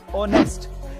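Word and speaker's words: honest: Number 2, अगर किसी word में ओ से पहले एच आए तो उसमें एच साइलेंट रहता है, जैसे कि ऑनर, आवर, ऑनेस्ट।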